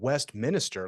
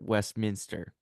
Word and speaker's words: Westminster: officially listed as yeah Westminster okay Westminster but Westminister like the minister from the West that it